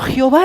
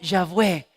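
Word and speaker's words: Yahvé: un momento dice yo jehová realmente dice yo ya ve yo ya ve y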